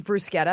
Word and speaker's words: bruschetta: The other one is a tricky one, like bruschetta versus bruschetta. Because you sound like a. It is bruschetta. I know, but you I sound have like to a say turd. bruschetta.